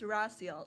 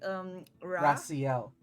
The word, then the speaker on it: Raciel: Okay, this is like it only makes sense if you know like the why, but it's Raciel. So like Raciel. So with an S.